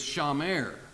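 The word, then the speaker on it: שמר: it that word for cultivate in Hebrew is pronounced a bad and the word for keeper guard is Shah mer I got interested in those words so I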